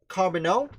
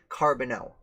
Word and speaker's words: Charbonneau: Shoshone tribe, or Shoshone tribe, would probably have pronounced it with a J sound. So that, Toussaint Charbonneau, the man who married her when she was